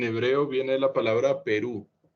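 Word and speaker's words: פרו: El término fructificad en hebreo viene de la palabra Perú. Se pronuncia igual que el país vecino, Perú.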